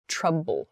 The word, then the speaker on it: trouble: followed by B the the B sound of trouble so there's no your teeth should not touch your lower lip so travel and trouble so your lips should come together when you pronounce that b sound trouble trouble travel trouble